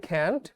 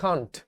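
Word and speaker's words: can't: এটা কিন্তু আমেরিকানরা বলে ক্যান্ট। ব্রিটিশরা বলে কন্ট বাট ওইটা একটু মানে কঠিন লাগে শুনতে উচ্চারণটা তোমার যেভাবে ভালো লাগে তুমি করো আমি আমেরিকান ক্যান্ট এটাই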